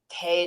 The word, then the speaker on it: Tay: telling my daughter that I think your name is Ta, but I might be wrong. me. Yeah, nah, it's Tay. Tay.